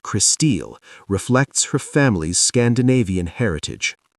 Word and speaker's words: Crystal: Her name, pronounced Christille, reflects her family's Scandinavian heritage.